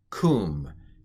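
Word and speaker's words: קוּם: it's a sharook and it's an oo sound um and it's a piggyback letter so this is kum and that's a sharook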